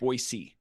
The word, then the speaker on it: Boise: of Boisey that you you drop a soft S. It's not a Z when you know, if you say it like a Z, they'll know you're an out oftowner. So, it's Boyisey.